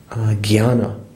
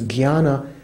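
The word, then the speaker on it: jñāna: Could translate it as gnosis, because jnana is, in Sanskrit, is kind of like J-N, with the umlaut. That's how you kind of pronounce it. Oh, not umlaut. What do you call it? Tilde over it. Jnana, jnana, and the Sanskrit scholars that I know say that nowadays people pronounce it kind of like jnana, almost like G-H.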